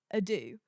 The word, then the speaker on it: ado: first question say that's how you say it Ado without further Ado no yeah no without I'm